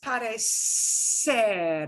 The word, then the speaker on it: parecer: The original verb is parecer. It's got a S sound in it, right?